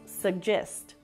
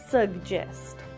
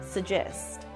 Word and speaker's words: suggest: word is pronounced as suggest you can hear a bit of a g sound at the end of the first syllable sug sug so put stress on the first syllable suggest suggest in British English